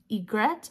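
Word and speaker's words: orgeat: this is a creole I don't know how to pronounce this you get it's o-r-g-e-a-t but I looked it up and I think it's Egret you get um I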